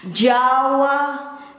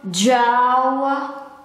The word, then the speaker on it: Jawa: And this is the old way to write it, and it is pronounced as Jawa, Jawa. In Indonesian, Jawa, Jawa, or in English, Java.